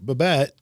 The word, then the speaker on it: Babette: So Babette, and I said that correctly, right?